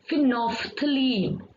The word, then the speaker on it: phenolphthalein: So how we have to pronounce, please repeat after me, phenolphthalein.